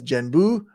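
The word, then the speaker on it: 玄武: In Japan, the characters are pronounced as Genbu.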